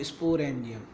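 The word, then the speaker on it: sporangium: Thallus में ये गोल structure बनती है, इसको बोलते हैं हम लोग स्पोरेंजियम।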